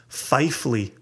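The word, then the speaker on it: Pfeifle: Fifle? Fifle. Catwoman. So says, my ancestors were apparently illiterate because it is pronounced Fifley.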